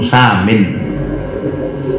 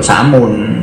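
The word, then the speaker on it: سامٍ: tujuan yang tinggi, hadafun samin. Bacanya samin, untuk samun. Nek samun nanti dari kata-kata sum racun, tujuan yang meracun kalau samun.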